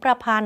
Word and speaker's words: ประพันธ์: ธง การันต์ นะ คะ ประพันธ์ ก็ เหมือน กัน อ่าน ออก เสียง ประพันธ์ เพราะ ธง ถูก ฆ่า เสียง ไป ก็ อ่าน ว่า ธ ธง การันต์ นะ คะ เขตขัน เขตขัน